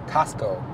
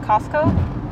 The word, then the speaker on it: Costco: 그 미국 본토 발음으로 하면은 Costco. How do you say it? Costco. I don't know if you say it fast, Costco. It sounds like C-O-S-C-O.